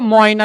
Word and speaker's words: ময়না: খেয়াল করেন তো, ময়না শব্দের মধ্যে অ এবং অন্তস্তীয়, খেয়াল করেন, এই যে ময়না, দেখেন অ এবং এ, সরি, অ এবং এ, এই দুইটা মিলে উচ্চারিত হয় অয়।